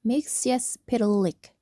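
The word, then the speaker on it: Mxyzptlk: Mr. Mixes Pitik pronounced Mixius Pilik is a magical man from the fifth dimension.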